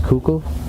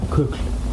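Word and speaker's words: Kukl: I believe I don't know how to pronounce the band's name. I think it's Cuckul. Yeah, Kul.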